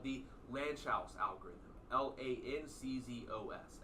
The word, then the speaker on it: Lanczos: L A N C Z O S. L A N C Z O S.